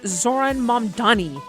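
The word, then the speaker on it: Zohran Mamdani: But it's pronounced Zoran Mani.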